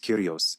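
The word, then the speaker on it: κύριος: They only referred to him as God, father, or Lord, which is pronounced curios in Keiny Greek.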